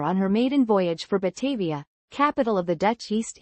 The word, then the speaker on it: Batavia: Batavia, Dutch pronunciation.